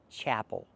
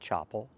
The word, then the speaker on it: chapel: The word is pronounced chapel, not chapel. We cannot use the open ah sound like hot and stop. We have to use the ah sound like black cat.